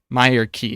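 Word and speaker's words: Myreque: Myerik. Oh wait, is aid the one that adds more to temple trekking? I don't know. Myerik is apparently how it's pronounced by Jagex.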